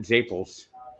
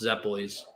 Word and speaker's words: zeppoles: We uh although he calls it manoink, the same guy who calls it Zapels. Zapels. I never knew that word is wrong. All my life. When did you learn that it's pronounced zeppoles?